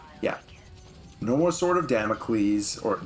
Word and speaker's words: Damocles: No more Sword of Damocles, or Damocles as the guy pronounces it.